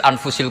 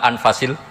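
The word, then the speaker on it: أَنْفَسِ: anut bacaan saya saja di sini ditulis anfusil kutub kalau saya baca anfasil kutub karena maknanya kitab ter baik Kalau kitab terbaik bacanya bukan anfus tapi apa anfas ya nanti kamu debat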